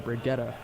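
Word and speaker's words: Brigitte: Brigitta. That's so the developers they haven't like a monthly update thing, and in the thing they pronounce her name Brigitta, which is kind of weird.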